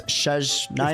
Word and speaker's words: Snezhnaya: Have I been saying it wrong this entire time? That doesn't surprise me. It's SNEZHNAYA.